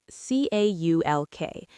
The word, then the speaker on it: caulk: Here's another great verb, caulk, C-A-U-L-K. Note the pronunciation. The L is mostly silent. It sounds like caulk.